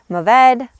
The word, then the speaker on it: Mourvèdre: Mourvedre is pronounced Mourvèdre, Mourvedre, Monastrell to its native Spain, and also Mataro in areas of California.